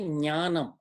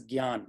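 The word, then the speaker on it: ज्ञान: Please, for South India, how do we say the word gyan? We tend to say jnanam, but when you do nya, you spend a little extra time on that syllable, and that breaks the rhythm again. So I do believe that the correct way is gyan, like ga plus ya almost, gyan.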